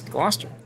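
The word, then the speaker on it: Gloucester: Locals pronounce Warcaster as Wooster and Glouester as Glouster.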